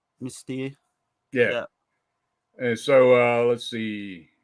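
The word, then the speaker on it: Mystère: Mystere, though, you say mystery, or how do you say it? Mystere. It's like French, right? It's French, yeah.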